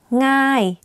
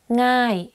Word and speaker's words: ง่าย: ย น that's school ง่ า ย easy ง่ า ย meaning easy like thinking of singing the ng sound you use that sound in front of the word ง่ า ย ง่ า ย Is it easy?